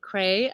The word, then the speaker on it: Kraay: find me by just hearing the name cray they're going to get very confused because it's spelled k-r-a-a-y one of those crazy dutch names um so i have